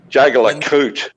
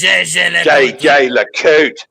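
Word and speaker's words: Jaeger-LeCoultre: Jaeger LeCoute. Jaeger LeCoute. It's JJ LeCoute.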